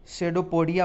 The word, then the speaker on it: pseudopodia: पदाव कहते हैं, यानी कि आप इसको शेडोपोडिया बोल सकते हैं। PSEUDOPODIA, यानी P इसमें साइलेंट हो जाएगा, और शेडोपोडिया आप बोल सकते हैं।